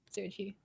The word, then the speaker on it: Serachi: The chi just I needed a syllable that sounded cute and flowed well. And, I just need a nice sounding, elegant sounding syllable. And I was like, yeah. So you. I came up with like every possible like 3 to 4 word combination. I was like, chi sounds good.